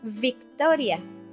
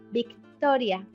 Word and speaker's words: Victoria: It's pronounced like B. So you will say in English Victoria, but we say Victoria. Can you notice the difference?